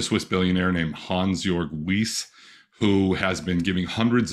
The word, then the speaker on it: Wyss: many people haven't heard how do you pronounce his name the Swiss billionaire Hans jorg whis w-y-s-s people talk about um